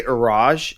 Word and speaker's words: Iraj: I always use because if I say Iraj and it's spelled I-R-A-J, they never ever write I-R-A-J because